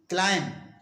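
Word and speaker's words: climb: है इसी तरह से सी एल आई एम बी क्लाइम इसमें बी नहीं पढ़ा जाता है जिस तरह से कम में बी नहीं पढ़ा था बी लेटर साइलेंट है क्योंकि बी के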